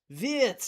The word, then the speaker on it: Wirtz: Wirtz is how you say it.